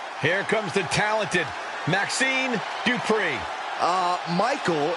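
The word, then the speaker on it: Dupri: Here comes the talented Maxine Dri. Uh, Michael, it's pronounced Dri representing the Alpha Academy from Phoenix, Arizona.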